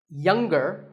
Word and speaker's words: younger: we say the g younger again with the G but singer no G